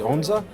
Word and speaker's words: onza: These bright red chilies here, the onza?